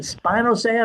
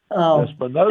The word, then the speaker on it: spinosad: Spinosad is the way I was. It's a relatively. What's that? That's the way I was told to pronounce it, was spinosad.